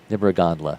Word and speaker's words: Nibragandla: Nibragandla. Gotcha. It looks exactly like it. Like it sounds. I was kind of surprised it was exactly the way it's spelled.